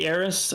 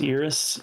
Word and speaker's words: Eris: Well, I usually say Aerys. I think that the traditional pronunciation of that word is Iris. Um, so I'll accept Aerys or Iris.